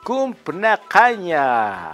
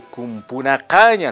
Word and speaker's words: cumpnacaña: Cumpnacaña, a ver, reiteramos. Cumpnacaña o cumpunacaña también se puede decir.